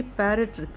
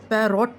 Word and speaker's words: parrot: अब अगर हम पी, अब सपोज़ करिए पैरट लिख रही हूँ मैं, PARROT, प ए र ओ टी, पैरट पैरट, पैरॉट नहीं बोलते हम, पैरट।